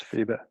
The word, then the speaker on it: FIBA: awards one Super League top scoring Irish player FIBA am i pronouncing that right yeah yeah yeah it's FIBA FIBA junior men's your highest score award FIBA